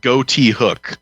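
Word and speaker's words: Ghoti Hook: it looks like wikipedia is saying that it's pronounced goatee hook oh but i think the point is like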